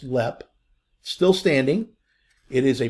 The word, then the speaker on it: Leap: and they lived at this Castle it's called LEP Castle it's spelled e-l-e-a-p all right but it's pronounced LEP Still Standing it is a private residence today